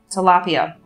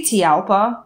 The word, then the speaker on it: tilapia: A tilapia. I always say tialpa, which is not how you say it at all.